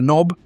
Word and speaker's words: Nob: generally led by a knob, short for noble, but pronounced knob.